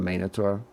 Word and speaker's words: Minotaur: I'm annoyed with Minotaur because it can be Minotaur or Minotaur, but the Greek way to pronounce it is Minotaur.